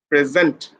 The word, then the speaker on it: present: see the learners sent present the pronunciation should be present that means you have to put pressure on the second syllable dear student Carrigan's another